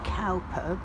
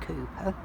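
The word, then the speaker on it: Cowper: united reformed church which calper but apparently pronounced cooper um and he was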